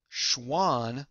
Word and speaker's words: Schwann: Now, a great way to remember the difference between these two guys, Schwann sounds like the word swan, and remember, swans are animals.